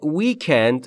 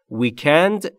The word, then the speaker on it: weekend: برای آخر هفته دوستان تلفظ ویکند رو دقت بکنید به دو شکل تلفظ میشه ویکند یعنی استرس روی بخش اول و ان استرس روی بخش دوم و هر دو تلفظ درسته فورست for باران برای